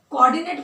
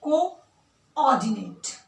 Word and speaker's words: coordinate: इसको बोलने के लिए आप ना कोऑर्डिनेट कोऑर्डिनेट मत बोलना, इसका जो करेक्ट प्रोनाउंसिएशन है वो है कोऑर्डिनेट। पहले को CO देन ऑर्डिनेट।